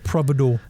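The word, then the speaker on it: providore: So cheeses, but is it pronounced providor or provider? Providor, I thought it was.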